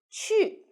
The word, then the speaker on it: 去: The word of the day is 去. In this video, I will teach you how to pronounce it, how to write it, and how to use it.